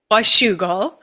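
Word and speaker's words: Washougal: Washugal or Wugle? I don't know. How do you say it, Janna? I say wugal. Washugal.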